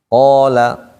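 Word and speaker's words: قال: Kalau dia sebelumnya huruf tebal seperti nempel di qaf. Qala. Nggak boleh dibaca kala, nggak boleh.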